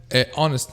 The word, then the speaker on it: honest: It means that there is silent letters in English, like for example, honest man. Okay, there is an H silent.